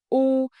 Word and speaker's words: u: Now you can confidently pronounce the difference between u and ư. Remember three key things. First, u is made with round lips, like saying u.